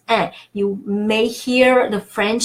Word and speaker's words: un: So it's un, it's not en, it's un.